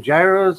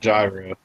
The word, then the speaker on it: gyro: in one sitting attacking gyros or the samosas and if hard to find here in South Texas it's pronounced gyro not jiving no country it's called gyro it's a your gyro